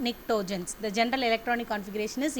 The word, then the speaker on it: pnictogens: And 15th group elements, which are called nitrogen family, and they are called as pnictogens, P is silent, pnictogens.